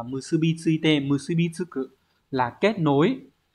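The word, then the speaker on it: 結び付いて: Số 3, chúng ta có từ này đọc là musubi tsuite.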